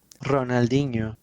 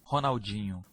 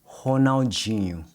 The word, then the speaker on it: Ronaldinho: Compare how the Spanish speaker says it, Ronaldinho. Ronaldinho, compared to how the Portuguese speaker says it, Ronaldinho. Ronaldinho. Now, I don't know if you can hear it, but the NH sound in Portuguese is a softer sound, and it has a nasal quality to it.